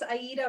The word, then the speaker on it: Aida: And again, is it Aida? Is that your name? And or? How do you say it? It's Aida.